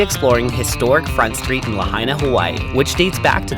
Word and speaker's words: Lahaina: we're hitting up front street which is in lehana well actually it's pronounced lahaina but at that point of our trip my